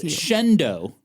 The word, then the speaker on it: Shenandoah: s h e n a n d o a h Oh. Shenandoah. Okay, you know what? pronounce it as Shendo.